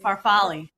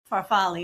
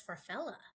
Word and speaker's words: farfalle: I made What's the right word for bow tie pasta? For sitnafuci? Farfalle. Farfa Is that how you say it? Farfalle, yeah. I always thought it was farfalla.